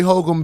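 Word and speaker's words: Holcomb: we GNA let hul be hul is your name spelled h o l c o m b yes God it's a classy name is it oh yeah you have a silent B well I was on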